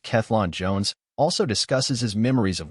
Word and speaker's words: Cellan Jones: recent conversation with th selin Jones pronounced klon Jones also discusses his memories